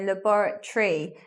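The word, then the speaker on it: laboratory: word love bar Tori five syllables but we don't say like that we say labora tree words with T o ry on them we're not saying Tori like the political party we leave it so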